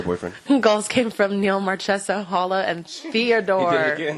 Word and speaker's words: Marchessault: Marchessault? That's how you told me to say it. No, Marchessault. Marchessault? Chess. Chess. Not chess, like the game.